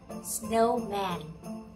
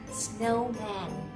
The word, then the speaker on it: snowman: Mình sẽ đọc cái từ này là snowman. Mình sẽ thấy này, từ này hai âm. Nhấn vào âm đầu tiên.